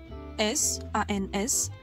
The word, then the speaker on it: sans: وكذلك sans avec S A N S ولا تنطق S في آخر الكلمة. تنطق sans وتعني بدوني.